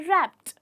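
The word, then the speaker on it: wrapped: हमें इसे बोलना है तो लास्ट में अगर आप देखेंगे रैप्ड ट ट का साउंड आता है तो जब हम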